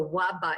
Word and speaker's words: Labe: This is the Waba. In Czech it's Waba, in German it's the Elbe River.